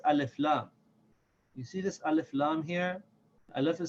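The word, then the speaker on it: ال: carry a shed and there are certain letters of the alphabet that when they follow the alif laam they will not have a shot the alarm will in alif laam will be pronounced with Serkan and the letter will have it a valve on it but for the other letters the LAN will be silent and the letter will have a shed like you see here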